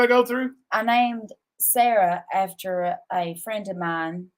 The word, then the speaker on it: Sara: She will tell I'm like, Sarah, it's still pronounced Sarah.